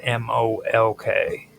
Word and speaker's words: Molk: The stele inscriptions of the Tophet often mention Molk, which is spelled M-O-L-K, or on the Tophets, it's actually M-L-K, not M-O-L-K. It's pronounced Molk, but on the Tophets, it shows as M-L-K.